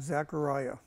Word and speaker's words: Zechariah: to be speaking about Zachariah he's the guy who was a by the way Zachariah was a contemporary of of um Hagi Zachariah Zachariah pronounced Zacharia uh and also uh